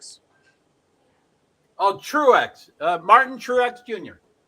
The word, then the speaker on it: Truex: how you pronounce that trucks truck Strokes oh Truex uh Martin Truex Jr Truex two syllables Truex okay what did